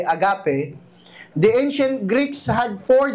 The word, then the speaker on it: agape: Paul us the ancient Greek word agape or yung tamang ah bigkas po ay agape.